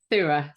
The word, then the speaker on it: Surah: How do you pronounce your last name again? Surah, Surah. So you Surah.